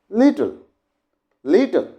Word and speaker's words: little: So, little, but we tell little like this, little, not little at all, little. Here, little. The sound of li will be louder than till.